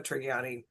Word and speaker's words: Trigiani: is another solid Adriana Trigiani book. And Absolutely. I think it's a hard G.